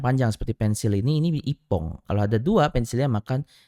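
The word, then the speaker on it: 一本: apa cara bacanya Ya cara bacanya adalah nomor satu Ipong Ipong iibong atau I Bong ya oke jawaban yang paling tepat adalah nomor dua Ipong ya untuk satuan benda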